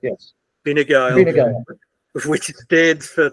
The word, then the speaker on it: Fine Gael: Have I pronounced? Yes. Fine Gael, Fine Gael, which stands for Tribe of Gaels.